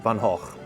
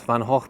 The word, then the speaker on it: van Gogh: He is the Dutch painter whose name neither rhymes with show nor with cough, Vincent van Gogh.